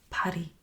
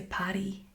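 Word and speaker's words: Paddy: Patty. Okay. It really really irritates me when Americans say Patty.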